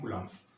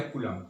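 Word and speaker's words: coulomb: हूं वो है -1.6 * 10 पावर -19 कूलम्स।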